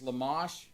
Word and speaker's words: Lamech: you go down cain's lineage i'm going to mispronounce that name but it's lamash it means defiant so you have a dedicated